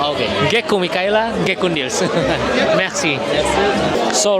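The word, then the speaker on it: مرسی: Oh, just like in French. Yeah, Merci. but we pronounce the R.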